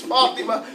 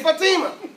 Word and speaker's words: Fatima: It's Fatima. But we know they say Fatima. You know? Ain't no thing. It's how they say it in our culture.